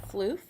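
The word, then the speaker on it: Phloof: Now the first eyeshadow color that we're going to be using is a MAC color called Floof. It's spelled P-H-L-O-O-F, and this is a shimmery white.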